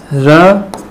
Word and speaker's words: ऋ: लेते हैं स्वरों के रूप में। क्यों? क्योंकि इसकी जो ध्वनि होती है वह री होती है, ऋषि हो गया, इस टाइप में।